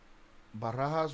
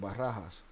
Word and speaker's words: Barajas: Barahas was friends. Yeah, that's how you say it. Barahas was friends with both Zambadas and Chapos.